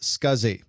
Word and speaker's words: SCSI: adding backwards compatibility you the abbreviation SCSI is pronounced scuzzy and this stands for small computer systems interface